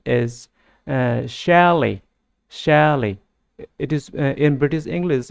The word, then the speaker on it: chalet: it is pronounced as shally it is in British English it is pronounced shally in American English it is pronounced as chalet এইটো noun হিচাপে মাত্ৰ